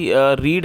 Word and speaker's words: read: आर ई ए डी लेकिन जब आप इसको अ फर्स्ट फॉर्म के रूप में पढ़ेंगे तो आप इसे रीड पढ़ेंगे और जब आप इसको सेकंड और थर्ड फॉर्म के रूप में पढ़ेंगे तब आप इसको रेड पढ़ेंगे तो आपको ये चीज